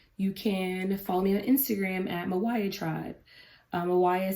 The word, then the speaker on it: MYWYA: Mawaya stands for Meet You Where You Are, come into a space of not ignoring where we are so that we can get to where we want to be. And it's spelled MYWYA.